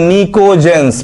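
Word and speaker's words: pnictogens: हम लोग बोलते हैं nicojens पीस साइलेंट है यहां पर निकोलस आर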